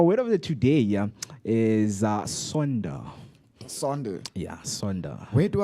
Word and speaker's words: sonder: So let me spell it for you. Okay. It's SONDER. And that's Sonda.